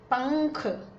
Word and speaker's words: पंख: बिंदी लगा दी है तो इसका उच्चारण क्या होगा, म न क्या होगा, ये जो अगला अक्षर है ना क, इसके पंचम वर्ण की तरह होगा, अंग, अंक, पंख।